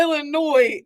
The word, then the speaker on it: Illinois: sir you get to Illinois and go I know you're not supposed to pronounce that but what's it there for that in the English